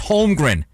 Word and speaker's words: Holmgren: the way broadcast crew nba tv it's holmgren i don't know how you can't pronounce the last name of the second pick in the draft there was something else